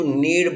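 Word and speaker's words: knead: जब आप आटे को गूंथते हैं तो उस क्रिया को टू नीड बोलते हैं।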